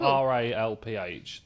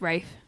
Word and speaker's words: Ralph: Is that you say it Rafe? I don't write in about that everyone because it is said Rafe. If it's spelled R A L PH, then it's Ralph.